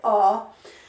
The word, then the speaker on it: our: and someone else our but we pronounce it r this is our house